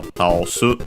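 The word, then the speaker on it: 倒す: Yes, accented, so taosu.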